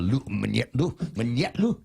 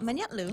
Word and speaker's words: Manyetlu: You put more accent on the Manyetlu. Yeah, it's like Chetlu, but Manyetlu.